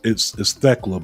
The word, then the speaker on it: Thekla: And it's Thekla, by the way. That's how you say her name. But Slammiversary. Are you sure? Because are you sure that's how you say it? Because I remember hearing somebody say it without the K. I don't know. The K is there, but it's silent.